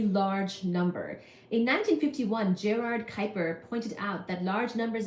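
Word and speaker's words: Kuiper: Bel with which reys told me it's called Kyper k u i p e r and um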